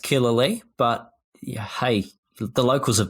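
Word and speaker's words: Killalea: it killer lee or kill leah well i won't say i'm an expert locally it's pronounced killer lee but hey the locals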